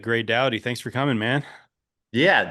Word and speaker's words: Gray Dawdy: All right, Gay Dowy, thanks for coming, man. Yeah, thanks. You actually pronounced my name correctly, too, which is cool.